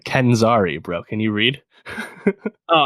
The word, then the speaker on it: Kenzari: Come on, pronounce these right. Kenzari, bro.